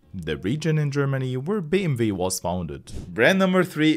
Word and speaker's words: BMW: manufacturer which is BMW Germans pronounce it BMV b m v the home the little W in English is v in German by the way